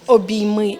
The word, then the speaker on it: Обійми: виставка носить назву е із різним наголосом Обійми і обійми тобто хоч так хоч так а на сьогоднішній